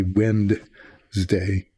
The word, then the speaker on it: Wednesday: it the right way it's really hard to say wedness Wednesday the right way it's hard it's way easier to say wind day w n d was but that's not how it's spelled so I I have